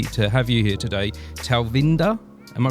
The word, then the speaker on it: Talvinder: I'm very lucky to have you here today talinda am I pronouncing your name correctly yeah wonderful that's a